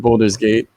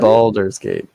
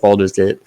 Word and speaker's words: Baldur's Gate: Oh, no, it's What? Baldur's Gate. Like a VO, like Boulder. I don't know. No, it's like Baldur's Gate.